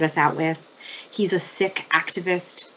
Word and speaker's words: Sikh: out with he's a sick activist that's s-i-k-h not sikh but sick that's how we pronounce it um he's doing incredible